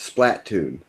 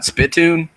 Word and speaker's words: Splatoon: probably pronounce it correctly it's Splat ton split it's not spitune it's video game about